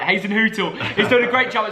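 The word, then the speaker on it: Hasenhüttl: And Hazen Hootel, because a few people corrected me that time. I didn't say it right. Hazen Hootel is doing a great job at Saints.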